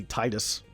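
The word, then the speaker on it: Tidus: Well, you'll notice how I still say Titus and not Titus. However I pronounce characters from games I played like over a decade ago, I'm probably never going to change.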